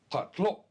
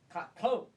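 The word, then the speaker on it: qatlho': It is said in the back of the throat, pa. Pa. And it is spelled using the Latin alphabet Q-A.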